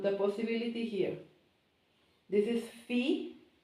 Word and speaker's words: phi: This is phi. Like in English, well, we spell PHI, but it sounds like an F. like pharmacy. Pharmacy, you spell PH, but sounds phi, like an F. Phi.